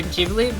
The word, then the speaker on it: Ghibli: And I like writing that paper made me realize how wrong I've been pronouncing Studio Ghibli. Like, it looks like Studio Ghibli or Ghibli, but it's Ghibli.